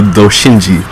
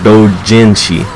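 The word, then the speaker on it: Doujinshi: We'll be reading the Doshinji, or Dojinshi. I gotta pronounce that right.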